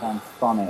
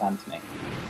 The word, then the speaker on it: Anthony: name as it happens although I don't pronounce it as an fonny I just pronounce it as Anthony that was right huh